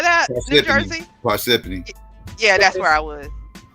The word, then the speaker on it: Parsippany: You know I don't know how to pronounce this shit. It's called Persephone or something like that. New Jersey. Parsippany.